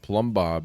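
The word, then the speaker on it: Plumbob: I The thing that's interesting about Plumb is that the first B is silent. The B and plum is silent, but then once you get to Bob, both bees fully audible.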